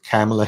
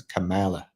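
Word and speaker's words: Kamala: right or wrong way some people do pronounce her name as camela some as Camala I want to say there is 100% a right way and 100% a wrong way okay tell like my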